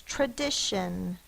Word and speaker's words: tradition: R, that is a schwa.